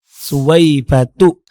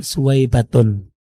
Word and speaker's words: Suwaibah: kata Suwaibah dalam bahasa Arab itu merupakan isim ghairu munsharif, Ustaz. Karena Suwaibah memiliki dua illah, yaitu alamiah dan juga taknis. Jadi bacanya tidak ditanwin, Ustaz. Suwaibatu, bukan Suwaibatun. Oke lah, saya maklumi dan husnuzon.